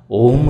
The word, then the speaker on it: ওম: আর এই ওয়ের উচ্চারণ পেট থেকে, অয়ের উচ্চারণ গলা থেকে, আর ময়ের উচ্চারণ মাথা থেকে হবে। আমরা কিন্তু এই ওম শব্দ উচ্চারণের মাধ্যমে আগে